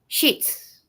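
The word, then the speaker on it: Schitt's: It's pronounced shits.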